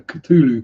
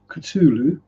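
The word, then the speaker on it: Cthulhu: never actually existed no where cthulu comes from or cthulu or kuu all the various different pronunciations but according to HB Lovecraft himself it's culu so I think as he's the author we can take his word for it um coffee time this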